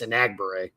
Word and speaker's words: Enagbare: But the practice I was at, Hollins was ahead of Enagbare, and I think it's Enagbare, I've been told is the way that's pronounced.